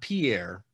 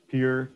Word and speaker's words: Pierre: live in south dakota that you pronounce peer right it is not pierre we say peer the poll and that